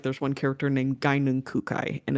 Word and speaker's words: Gaignun: Like, there's one character named Gainun Kukai, and it's spelled Gaignun.